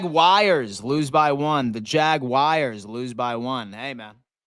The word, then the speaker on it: Jaguars: baby the Jag wies lose by one the Jag wies lose by one hey man that's exactly how you pronounce it by the way too seven and